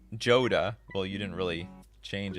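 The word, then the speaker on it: Jodah: how i do it i believe joda is pronounced like yoda but everyone's i know says joda well you didn't really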